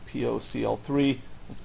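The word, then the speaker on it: POCl3: For example, POCL, P-O-C-L-3, commonly pronounced POCL in the industry, as a source of phosphorus.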